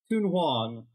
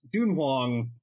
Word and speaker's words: Tun-Huang: cool little book called tun Hong uh or if I'm going to be pedantic about it it should be pronounced dun Hong uh by yasui Ino